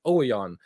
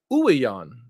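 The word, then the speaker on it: Ouwejan: this whole time i've been pronouncing his name thomas oyeon and it's ouijan so the chant was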